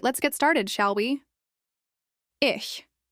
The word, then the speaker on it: ich: Ish once again ish. This means I use it in mud which means I am tired. Pronounce it as is soft like in Bach.